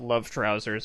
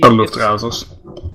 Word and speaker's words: Luftrausers: It just whenever Val was in the bathroom or doing something, and Luftrausers, or as some people call it, Love Trousers, I guess. It's a really Luftrausers. Yeah, the correct pronunciation.